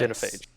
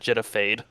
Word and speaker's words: genophage: Genophage. The Genophage. Is that what I said? What did I say? It doesn't matter. You said Genophade.